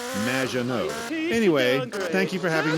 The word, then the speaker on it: Maginot: Magdalene. Welcome to the show. Thanks, Amy. However, you have mispronounced my name. It's Madge, which rhymes with badge, as in duh, and no as in more than you. Maginot.